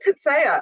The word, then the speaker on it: Coetzee: You pronounce it Coetzee, apparently, like 3 syllables.